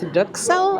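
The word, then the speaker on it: duxelles: We also ordered the truffled crusted mushrooms which is stuffed with dukel I believe it's how it's pronounced but also cheese chives and it's got a grated truffle on it.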